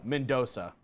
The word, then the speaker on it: Mendonca: Last name is pronounced, Mendoza. There we go. Literally. It's like the Mendoza line.